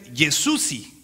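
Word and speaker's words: Jezusi: En Albanian se pronuncia Yesusi.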